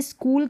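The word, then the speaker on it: school: में ऐसा नहीं पढ़ेंगे अब जैसे स्कूल की स्पेलिंग लिखिए स्कूल तो यहां पर क को के प्रोनाउंस कर रहे हैं ठीक है ये जो मैंने अभी बताया फिर एक है यहां पर भी क को के पढ़ रहे हैं मोनार्क है यानी के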